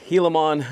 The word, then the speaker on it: Gilamon: taking a look at the brand new Axial Hilimmon. Let's go ahead get it open and get into it. All right, everybody. So, in case you're wondering, it is pronounced Helilimon.